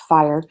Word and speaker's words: FHIR: as well uh hl7 fire we talked about that that's you know interoperability essentially um fhir is pronounced fire and I think this